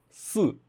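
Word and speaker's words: 四: E aí, em contrapartida, a pronúncia do número su, do número 4, é muito parecida à palavra morte, que é su, su, su.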